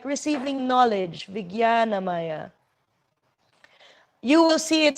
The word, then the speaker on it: Vijnanamaya: Actually, the pronunciation is Vijnanamaya. But for some reason, they decided to use a J for English spelling instead of the Y, which is what it sounds like.